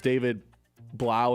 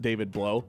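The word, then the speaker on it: Blough: You know how you can remember it's David Blau and not David Blow. How? Cuz David Blau rhymes with wow.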